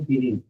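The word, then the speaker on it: Guinea: Third number पे Peppa New गिनी। आप लोग गिनिया कहना चाहते हैं, अगर ऐसे याद होता है तो ऐसे सही, लेकिन असल प्रोनाउंसिएशन है गिनी, पेप्पा न्यू गिनी।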